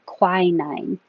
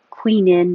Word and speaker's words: quinine: word but excuse me American English is most familiar with quinine so if you use a different pronunciation like Queen in or something very different they might ask you what and then you might think oh let me try quinine quinine it's the